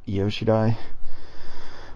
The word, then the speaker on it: Io Shirai: Um, Speaking of people coming to WWE, Japanese wrestling sensation, Japanese women's wrestling sensation, Io Shirai. Am I pronouncing that correctly? Yep, Io Shirai.